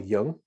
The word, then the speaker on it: Jung: version of how we can take jungian Carl Young I can never say it properly j-u-n-g and